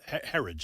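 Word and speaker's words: Herridge: So, um uh this I have a lot of respect for Katherine Herod. Uh Herage, that's how you pronounce her name.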